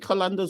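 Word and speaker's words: Qalandars: let's go to laor kandas I always wonder if I say that right is it kandas or not it is you you actually nailed the pronunciation over there so um they just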